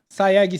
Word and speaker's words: Sayegh: É Sayeg? Se pronuncia? Isso. Sayeg simplesmente, ele é um dos sócios da maior rede de academias daqui do estado do Espírito Santo.